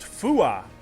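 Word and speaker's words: fuath: ships oh I'm sorry not fth it's pronounced fua huh like fuy fua Gremlins um they are hunchbacked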